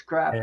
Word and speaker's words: crappie: It's not spelled C-R-O. It's not crappie. It's crappie.